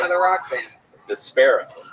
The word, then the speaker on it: Despera: Despera. Vesper with an A at the end.